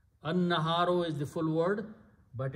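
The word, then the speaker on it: النهار: This is shamsi letter, so it becomes an-naharu. An-naharu is the full word.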